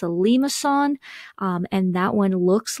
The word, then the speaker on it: limaçon: If you're taking French class, you probably can pronounce it much better than I can, but it's a limaçon, and that one looks like a cardioid, but it does have that loop.